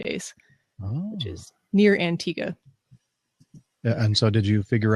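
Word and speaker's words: Antigua: Which is near Antigga. And so did you figure out exactly how to pronounce that? Antigga.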